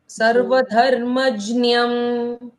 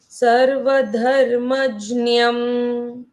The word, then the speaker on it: सर्वधर्मज्ञम: अगर हिंदी में होता तो हम कहते क्या? सर्वधर्मज्ञ, हाँ क्या धर्मज्ञम, होता? क्या होता करेक्ट। मध्यम कहते हैं। लेकिन हम संस्कृत पढ़ रहे हैं तो हम हिंदी उच्चारण नहीं कर ये सकते। करेंगे। तो सर्वधर्मज्ञम, इस तरह से बोलकर देखो।